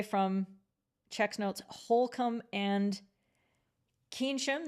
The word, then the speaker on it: Keynsham: So if you're not that far away from checks notes, Holcomb and Keynsham. This is Kensham.